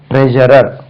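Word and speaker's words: treasury: இல்ல இது ஷா சொல்லக்கூடாது ட்ரெஷரர் right ட்ரெஷர் ட்ரெஷரர் right ட்ரெஷரிக்கு போங்க உங்களுக்கு ட்ரெஷரிக்கு போங்க ட்ரெஷரி இல்ல அது ட்ரெஷரி ட்ரெஷரி ட்ரெஷரில கொடுக்குறாங்க செக்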